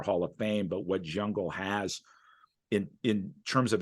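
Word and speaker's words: Zungul: right words there uh Steve zungle I'm never good it was pronouncing names it's jungle but so so Steve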